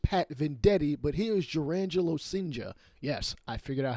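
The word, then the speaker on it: Jurrangelo Cijntje: I have played MLB The Show long enough to have actually faced Pat Venditti, but here is Jurangelo Sinja. Yes, I figured out how to pronounce his name.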